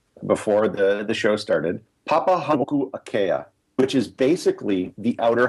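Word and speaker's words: Papahānaumokuākea: Yeah, and I had to check the pronunciation before the show started. Papahanau'akea, which is basically the outer Hawaiian Islands.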